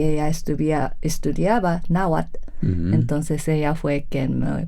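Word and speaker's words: Náhuatl: quitaron la TL de Nawatle, ¿no? E que por cierto, si estuviera aquí nuestro querido maestro de Naatle, nos regañaría porque ni siquiera eso se pronuncia así, sino es como una explosión Nawat.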